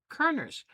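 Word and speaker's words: Körner's: Now it's spelled Kor, but it has 2 of the little umlauts over the O, which then turns it into Kerner's.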